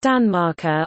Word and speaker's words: tanmarkar: Danmark, on the large stone, and genitive, Tanmarker, pronounced Danmarker, on the small stone.